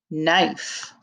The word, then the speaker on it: knife: another word with the same beginning sound 20 knife k-n-i-f-e knife now we have 21 ren w-r-e-n